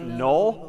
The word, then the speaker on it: NULL: Confusingly, in a couple of weeks, we're going to see another word pronounced null, but spelled N-U-L-L.